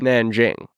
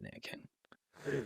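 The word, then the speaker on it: Nanjing: was like a big Nang Jing I pronounce it Nan King um I actually don't know like there are different pronunciations I don't know what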